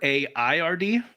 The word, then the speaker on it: Aird: My last name Ard, the ancestral spelling is AYRD or AIRD. So Aird, I guess, is how it was previously pronounced.